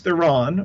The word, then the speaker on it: Theron: Charlize Theron, or Theron, depending upon how you want to pronounce her name, is almost to the level of Bond villain in The Fate of the Furious.